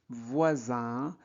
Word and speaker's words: voisin: prononce on, non, nombreux, voisins se dirigent. Voilà, donc voisin, IN se prononce un. EU se prononce E. Nombreux, voisins. Alors S, quand il est entre deux voyelles, se prononce Z.